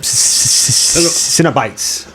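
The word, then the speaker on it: Cenobites: Cinebites, I believe. It's got that soft C there. It's hard for me to say. Cinebite, I believe.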